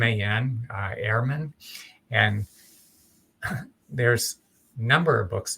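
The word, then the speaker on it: Ehrman: is Bart and I think his last name is spelled EHR m- an Airman and there's number of books that you could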